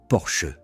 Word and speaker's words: Porsche: Le constructeur a publié des documents expliquant que le nom se prononce Porsche en deux syllabes.